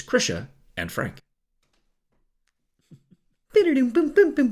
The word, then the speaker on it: Krisha: No, it rhymes with Trisha. Right, but what I'm saying is maybe the people who call me Krisha are saying it correctly, and my whole life I've just been saying...